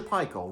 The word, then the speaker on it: Paykel: They told me Fisher Paykel rhymes with Michael. That's a bad accent. It's a New Zealand company.